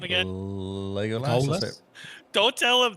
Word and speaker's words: Legolas: Legolas.